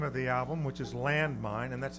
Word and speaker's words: Landmind: It appears to be a non-severed horse head with the name of the album, which is Landmind, and that's a.